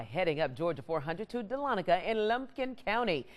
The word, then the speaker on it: Dahlonega: A real easy way to remember it is just then L-A-W-N, Dahlon, egg, E-G-G, So Dahlonega.